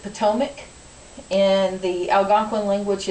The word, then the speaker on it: Potomac: It's written Patawomack. In English, we pronounce it Potomac.